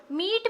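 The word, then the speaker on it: meat: जैसे एग्जाम्पल है मीट। मीट में अगर आप देखो तो ए साइलेंट है और ई का जो है वो लॉन्ग साउंड है। ये जो कॉम्बिनेशन है EA, इसमें ए साइलेंट है और ए की वजह से हम ई को लॉन्ग पढ़ते हैं, ई, मीट, इस तरह से।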